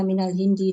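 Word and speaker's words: من الهندي: Ya, nanti bacanya bukan min al-hindi tapi minal hindi.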